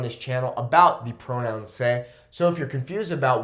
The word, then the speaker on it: sé: There is no pronunciation difference. So if I was to cut off that accent and just have se, it would still be pronounced as se.